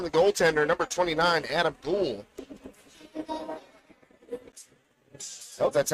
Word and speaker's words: Gould: skips in on the goaltender number 29 Adam Gould oh that's how you say it g-o-u-l and